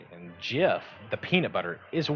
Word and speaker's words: GIF: hello sir loin of Buffalo he says it's JF the J he's wrong he's wrong it's that simple sir Lo of Buffalo says it's with a J and GIF the peanut butter is a wonderful thing however